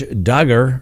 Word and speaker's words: Duggar: for you today first josh duggar rhymes with hugger well some of those